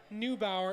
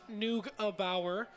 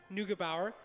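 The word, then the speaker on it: Neugebauer: for my former pronunciation it is not new Bauer it is noog a Bauer nougabauer and uh we will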